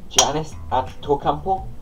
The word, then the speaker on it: Giannis Antetokounmpo: So I left it a few months just to try and pronounce the name and learn the name, and I have. So this pop vinyl is Giannis Antetokounmpo. Giannis Antetokounmpo.